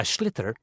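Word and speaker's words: sliotar: this ball called a schlitter that's s i o t a r so it's not spelled the way it's pronounced you hit it into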